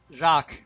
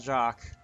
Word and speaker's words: Jacques: Jacques, I think the S is silent. But then again, I'm usually wrong on these things.